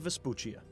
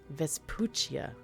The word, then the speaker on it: Vespuccia: even need to leave vesputia vespuccia that's how you say it I'm gonna forget but